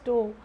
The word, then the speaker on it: torque: Even the TORQE, you spell it as toe. Okay, many people say, students say that as torque, nothing like that, it's said as toe.